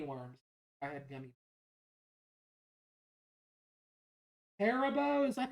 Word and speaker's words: Haribo: Haribo, is that how you say it? I always said Haribo. Haribo. Okay, thank you for fixing my pronunciation.